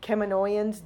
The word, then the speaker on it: Kaminoans: when they first did it, I think that the Kaminoans, I said that right this time. The Kaminoans, I think of David and I think of how he says it, and he's like, "You're saying it wrong.